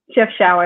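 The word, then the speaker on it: Chefchaouen: what is your favorite city in the world chef shower in morocco if you ask how to spell it it's c-h-e-f oh boy c-h-e-f t-h-a-o-u-e-n and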